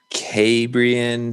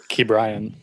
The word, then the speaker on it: Ke'Bryan: I'm not sure if it's – how is it? Ke'Bryan. Oh, it's literally how it's spelled?